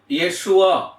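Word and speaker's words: ישוע: என்கிற வார்த்தை மருவி வருகிறது இயேசுவா என்கிற வார்த்தை இயேசுவா என்று அதை உச்சரிக்க வேண்டும் அதனுடைய மூல வார்த்தையை நாம்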